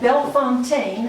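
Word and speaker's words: Bellefontaine: She was a very educated woman and she's buried at Bel Fontaine as our guide pronounced it.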